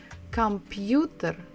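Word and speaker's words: компьютер: letters so it is computer computer come you there computer so the stress is on the third syllable and the sound of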